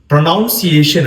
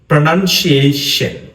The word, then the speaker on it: pronunciation: இதை எப்படி சரியாக உச்சரிக்கிற, இதை நிறைய பேர் ப்ரொனவுன்சியேஷன் என்று சொல்றாங்க. ப்ரொனவுன்சியேஷன், இது ப்ரொனவுன்சியேஷன் இல்லை. இதுல சரியான உச்சரிப்பு pronunciation. pronunciation pronunciation pronunciation இதான் அதுக்கான சரியான உச்சரிப்பு.